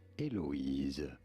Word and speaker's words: Eloise: For reference, in French it is said as Eloise. Eloise. Eloise, yeah. In English, it is usually pronounced as Eloise.